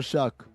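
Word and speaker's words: Shough: Also Tyler Shuck spell your name right or pronounce it right?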